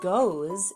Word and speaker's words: goes: And so we just have to remember that this part is unexpected and irregular, and that goes is spelled G-O-E-S.